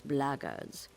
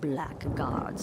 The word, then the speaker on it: blackguards: another one of those bloggers and that's the way to pronounce it not blackguards like that thug insisted it was then my answer is